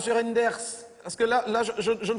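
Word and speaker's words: Reynders: Ça se prononce comme ça s'écrit. Reinders.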